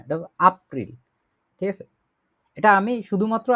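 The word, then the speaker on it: April: তারপরে এপ্রিল হচ্ছে এপ্রিলের মতোই আপ্রিল বলে এটাকে, কারণ জার্মান ভাষায় একে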